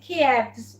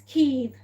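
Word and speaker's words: Kyiv: I know we pronounce it Kievs, but h if we're being honest, it's Keeb.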